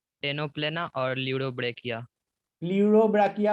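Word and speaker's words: Pleurobrachia: प्ल्यूरोब्राकिया होता है वो, ल्यूरोब्राकिया नहीं होता है। सर वही तो बोले ल्यूडोब्राकिया। हाँ तो प्ल्यूरोब्राकिया ना, पी बोलना सर पड़ेगा उसमें।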